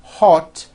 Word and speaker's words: hot: You see, it's not hot, it's ah. Hot.